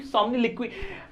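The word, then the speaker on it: somniloquy: अब सोम्निलिक्वी, इसका मतलब क्या है सर? एक तो प्रोनाउंसिएशन बड़ा अजीब सा था इसका। हाँ भाई, यही प्रोनाउंसिएशन है, मैं गलत नहीं पढ़ रहा हूं, याद रखना आप भी। सोम्निलिक्वी, टॉकिंग इन योर स्लीप, नींद में बातें करना।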